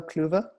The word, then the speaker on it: Kluever: to know how it's said so we're so Coover a lot of my american friends call me short for as they pronounce it and i'm happy to be here